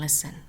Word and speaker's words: listen: in those words silent T ballet buffet and listen silent G sign and align let's review what